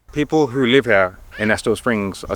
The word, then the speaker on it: Estill Springs: How do I pronounce it? Estill Springs? Estill Springs.